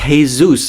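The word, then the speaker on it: Jesús: well and you mean hey-zeus from marketing right it's pronounced hey-zeus a real latina would know this jj's I am latina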